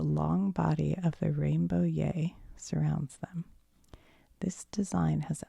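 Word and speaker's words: Yei: Or yai, pronounced yay.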